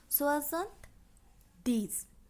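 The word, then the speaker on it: soixante-dix: কিন্তু 70 হলো সেই সংখ্যা যার সঙ্গে 10 যুক্ত হয়ে সংখ্যাটির উচ্চারণ হয়েছে, অর্থাৎ এই সংখ্যার নিজস্ব কোনো উচ্চারণ নেই। সোয়াজান্ত দিস।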